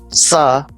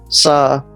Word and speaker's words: ça: Now C with the cedilla is equivalent to letter S. For example, ça, ça, garçon, garçon meaning a boy.